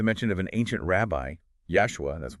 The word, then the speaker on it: Yashua: And it gets even more specific with the mention of an ancient rabbi, Yashua, that's Y-A-S-H-U-A, pronounced like Joshua, only with a Y sound at the start cited in the Gemara.